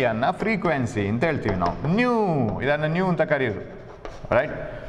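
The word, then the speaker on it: ν: 1 ಬೈ ಟಿ ಅನ್ನ frequency ಅಂತ ಹೇಳ್ತೀವಿ ನಾವು ನ್ಯೂ ಇದನ್ನು ನ್ಯೂ ಅಂತ ಕರೆಯೋದು ರೈಟ್ ನ್ಯೂ ಅಂತ ಅದು ಉಚ್ಚಾರ ಮಾತ್ರ ನ್ಯೂ ಸ್ಪೆಲ್ಲಿಂಗ್ ಅಲ್ಲ ಅದು ನ್ಯೂ ದಿಸ್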